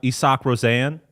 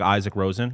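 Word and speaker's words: Isak Rosén: Got to shout out uh Isach Rosanne spelled like Isaac Rosen.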